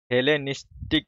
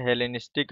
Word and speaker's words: हेलेनिस्टिक: इसको थोड़ा सा देखेंगे उच्चारण में। हेलेनिस्टिक आर्ट, क्या, हेलेनिस्टिक आर्ट।